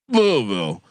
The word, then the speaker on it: Louisville: I've been told I've been thanked for my accurate pronunciation of the city of Louisville.